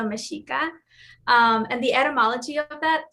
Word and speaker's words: Mexica: The X in Mexico, in the indigenous language of Mexico called Nahuatl, is pronounced sh. So Mexico should be pronounced Mexico. And the people of Mexico are the Meshika.